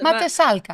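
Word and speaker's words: Mátészalka: Matesalka. Matesalka. Yeah. Matesalka. So if you see the S and Z next to each other, S and Z next to each other, that's a S.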